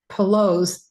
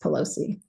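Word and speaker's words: pilose: velvet antler also called poos deer antler p i l o s e I don't think that's pronounced Pelosi chuckle chuckle Dr antler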